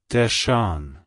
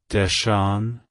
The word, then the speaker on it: Deshawn: during a period of black national pride it's pronounced as desan desan desan to pronounce it correctly emphasize the at the